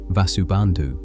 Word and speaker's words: Vasubandhu: Vasubandu pronounced Vasu Bandu was the sharper philosopher.